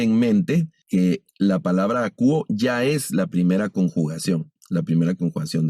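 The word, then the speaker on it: ἀκούω: Y también observen que el tema verbal tiene un diptongo que se pronuncia como U. No leemos akouo, sino solo akouo. Este diptongo se lee U, el verbo akouo.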